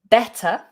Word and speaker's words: better: Always making sure that you do pronounce that middle T, better. In some regional accents and in some American variations as well, they might drop that T and say better, better.